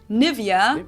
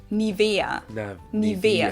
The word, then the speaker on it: Nivea: pronunciation pretty funny here English native speakers usually say Nivea Nivea in German we say niaa so the emph you